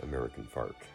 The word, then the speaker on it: American Fork: The most common example of this is the pronunciation of a Utah city, American Fork, as American Fark.